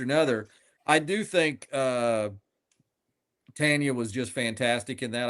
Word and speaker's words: Teyana: I do think uh Teyana was just fantastic in that. I think I'm saying her her uh first name properly. Um not a lot Teyana Taylor. Teyana, thank you.